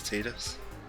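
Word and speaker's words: Tidus: yeah let's see but that is the correct way to pronounce his name is teeters so better get used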